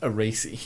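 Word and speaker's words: Arese: Alpha Romeo Factory isn't it it's actually called aasy r a r a r e s e but of course pronounced aasy so they go to aasy factory yeah right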